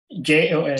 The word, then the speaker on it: Jos: How do you spell it? J-O-S.